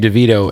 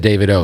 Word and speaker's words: Davido: album with me yo you just pronounced your name DeVito and I have always said that but when I first met you you said David O so